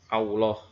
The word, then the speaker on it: Allah: Kemudian yang ketiga adalah mengganti huruf lam dengan huruf waw pada lafaz Allah. Bagaimana ini? Ini ada dua kasus, ya. Yang pertama mengganti satu lam, ya. Jadi begini bacanya, Allah, ya. Banyak di antara kita yang orang Indonesia yang dia benar ya Allah, ya. Allahu Akbar, ya. Allah, ya. Maka berubah maknanya, ya. Seharusnya dibaca Allah, Allahu Akbar, tidak Allah, ya.